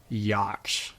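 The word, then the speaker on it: Jak: me yes sir how do you say your last name Yak spelled j a k oh it's a nice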